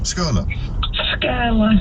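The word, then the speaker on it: Skirlaugh: How do I pronounce that, Rachel? Skurla. Skurla.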